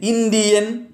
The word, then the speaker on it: Indian: Words ending in, not the ending, eagle, ian, is, itti, logi and graphy take stress on the anti-penultimate syllable. That is, the third syllable from the end.